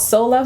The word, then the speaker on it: SOLUV: The magazine is called Soul Love Magazine. It's spelled SOLUV Magazine.